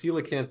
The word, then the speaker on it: coelacanth: But it says coelacanth is the way that it's pronounced on Wikipedia here.